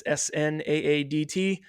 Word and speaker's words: Snaadt: It's Snaadt.